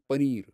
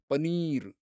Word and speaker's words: paneer: 'Paniyer' - 'Paneer'. What? How do you say? LA? They make it sound so tasty. Paniyer - paneeyer.